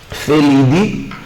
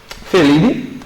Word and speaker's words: Felidae: Então eu tenho Felidae, a galera chama Felidae, mas a gente sabe que no latim a gente não pronuncia lá, né?